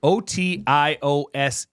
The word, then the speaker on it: otiose: Otiose. But it's pronounced Otios.